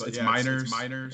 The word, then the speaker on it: Meinerz: I've heard a lot of weird pronunciations throughout middle school, high school, and whatever. But yeah, it's Meinerz, and yeah, it's not too bad of a last name once you get it once.